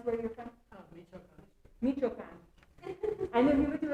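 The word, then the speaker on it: Michoacán: So Victor is from, will you pronounce where you're from? Michoachan.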